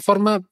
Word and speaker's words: Forth: en Inglaterra entonces Forth el nombre de la ría es f o r TH pero for pronunciado igual pero se añades una u después de la O significa cuarto Entonces ellos cambian cuarto